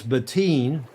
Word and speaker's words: Bettine: Today's show we're celebrating Martin Wrigley and it I'm told it's Beteen. Mr. Doctor, Andrew Mcur, Mr. Doctor said, "Pronounce it like between without the W."